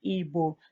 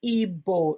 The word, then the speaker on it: Igbo: And if you I'm aware that most people call our language Igbo. It's not Igbo. You can see it's GB together. So like saying Igbo.